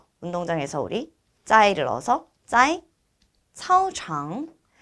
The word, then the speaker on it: 操场: 그러면 그는 타 운동장에서 우리 짜이를 넣어서 짜이 차오창 차오창 역시 발음 주의해 주셔야 되는데요. 카오창 아니죠. 차오창.